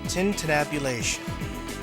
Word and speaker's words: tintinnabulation: do you know what it means word is pronounced tintinnabulation it isn't now it means the ringing or